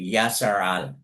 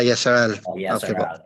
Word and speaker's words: Israel: Kapag Israel uh we we pronounce it in the Yahudi way Yasaral. Ah Yasaral.